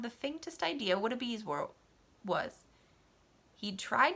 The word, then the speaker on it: bezoar: Where would you look if I told you to find me a bezoar? A bezoar, I think is how they say it, actually.